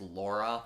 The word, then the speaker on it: Lara: Lara Croft, or Laura Croft, sorry, it's Lara, but it's supposed to be pronounced Laura.